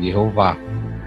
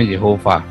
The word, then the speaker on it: Jehova: Jehova tanah memang tulisannya transliterasinya cara bacanya memang Giova tanpa tanda baca pun itu akan bunyinya Jehova Ya aku kan Bukannya